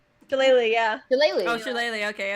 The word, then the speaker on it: Shillelagh: Shalala. Shillelagh, yeah.